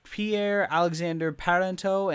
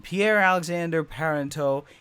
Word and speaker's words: Pierre-Alexandre Parenteau: But it's Pierre-Alexandre Parenteau. And I looked that sucker up because I didn't want to mess up his name. And I think I said it right. This man, Pierre-Alexandre Parenteau, is an absolute great pickup for Colorado.